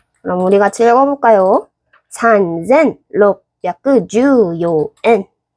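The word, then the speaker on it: 三千: 산젠 롭야크 주요엔 산젠 롭야크 주요엔 넨.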